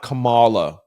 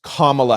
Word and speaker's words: Kamala: And it's not Kamala. It's Kamala Harris.